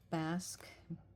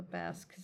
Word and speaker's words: Basque: B is for bask. And that's spelled B A S Q U E.